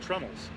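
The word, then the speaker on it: treenails: Those are called trunnels. Trunnels. Which is actually a tree nail. Oh. But they call it a trunnel.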